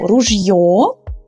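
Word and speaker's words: ружьё: changed as well so ruggio became rulia emphasis went from the end of the world to the beginning the opposite situation the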